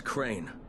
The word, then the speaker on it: Crane: no my name is crane crane crane rhymes with train and brain and sane and grey and rain and plain and the other kind of plane and and can I